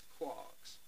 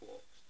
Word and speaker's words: quarks: they're made of quarks the correct pronunciation is quarks quarks still can't get me tongue around it that's why I call them quarks now as we run